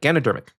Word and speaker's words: Ganodermic: Ganodermic? Yeah, that's how you say it. Ganodermic.